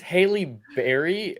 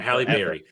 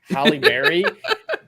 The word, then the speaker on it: Halle Berry: you keep saying that he banged Haley Berry or half uh screwed up my pronunciation and Halle Berry Halle Berry in a film in